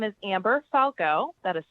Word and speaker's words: Falgout: My name is Amber Falco. That is spelled AMBER FALGOUT.